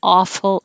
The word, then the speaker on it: awful: had an awful ending awful but maybe you can think of it as ah full full of awe if you round your lips it could sound like ooh and that would sound like a fool so you don't want